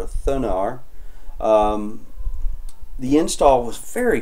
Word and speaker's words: Thunar: I installed using uh I think it's pronounced thunar or thunar um the install was